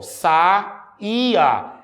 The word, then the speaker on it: saía: é com essa palavra Observe saia saia Se eu colocar um acento o que é que eu vou fazer eu vou tornar o hiato eu vou fazer com que ele fique sozinho então a palavra fica ó saía meus queridos aprovados o